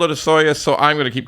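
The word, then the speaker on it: Osoyoos: who is it it's osus God help anybody who reads that and tries to pronounce it but because I've been there I know how to pronounce it it's ooas now apparently they want there's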